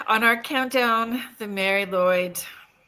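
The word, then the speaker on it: Lwyd: And so it says Welsh in quotations grey, but it's actually Mary M a R Y Lloyd.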